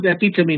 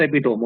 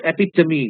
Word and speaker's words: epitome: all these words paragan epitomy this word is epitomy not epitome okay many people they pronounce this word in an incorrect way it's epitomy not epitome epitomy quintessence apotheosis gen Paragon all these are